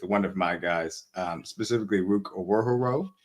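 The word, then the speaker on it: Ruke Orhorhoro: I'll start off this pick with one of my guys, specifically Rook Owohoro. I believe that's how you say it, but I'm not.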